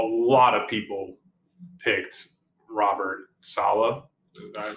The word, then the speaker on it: Saleh: So it's also, initial reaction was interesting because a lot of people picked Robert Saleh. Did I pronounce his last name?